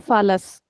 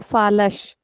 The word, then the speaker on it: falas: So the normal sound of s is s. But I'm not saying fallas. I'm saying falash.